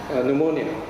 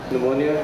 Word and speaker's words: pneumonia: you get words like pneumonia pneumonia has to do with the lungs pneumatic tires as airs are the tyres so numa means air wind okay and the p is silent but there's no sound